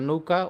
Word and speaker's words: নৌকা: যাবে কি নৌ নৌকা এইযে নৌকার উচ্চারণ হচ্ছেযে নৌকা তাহলে নৌকা তাহলে এখানে আছে ঔকার ঔকার সমান সমান কি ওয রস তাহলে আমরা ন নিলাম আর ঔকারটাকে আমরা ওকার করে দিলাম ওকার করে দিলাম আর